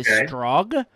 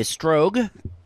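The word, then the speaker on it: Strogg: Some say strog. Some say Strogue. If you play the opening sequence of Quake 2 has both pronunciations on the PC.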